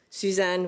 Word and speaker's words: Suzanne: On prononce Suzanne, hein? Suzanne, oui, à la française.